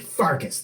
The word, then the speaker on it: Pfarcus: I'm your other host, Pfarcus. The P is silent.